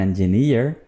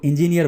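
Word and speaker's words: engineer: इसको इंजीनियर बोलते हैं आमतौर पर, जबकि ये लफ्ज़ ठीक तरह से कैसे बोला जाएगा? इंजीनियर, इंजीनियर, इंजीनियर, नियर, ठीक है, जैसे डियर, ओके।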